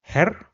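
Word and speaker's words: Herr: So brooder however if we have two errors then this is pronounced similar to the word error in English. So for example we have the word her which means mister or her which means gentleman.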